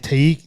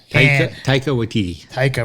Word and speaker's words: Taika: The directors and writers were Jermaine Clement and Taiki Waititi. Taika Waititi. Okay. Sorry, I butchered your name, dude.